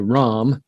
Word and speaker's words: Ram: with it's pronounced a ram a ram as if it were ROM but it's spelled r